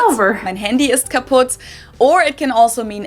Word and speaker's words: kaputt: We spell it with 2 T's in Germany, but we pronounce it the same way, kaputt.